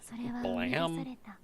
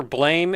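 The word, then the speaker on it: BLAME!: It's either Blame in English pronunciation or Blame in Japanese pronunciation, which I think is even weirder, and I don't understand why it would do that.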